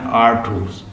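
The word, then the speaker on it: Artaud: ड्रामेटर्जी का मतलब लिखें theatres, writing and the theatres of द एंटोनियंस, आर्थर्स या आर्थूस, इसकी प्रोनाउंसिएशन है आर्थूस, who sought to affect the audience viscerally।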